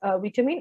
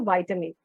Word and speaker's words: vitamin: Okay, you can spell this as, pronounce it as vitamin or vitamin. Okay, in either way you can pronounce it.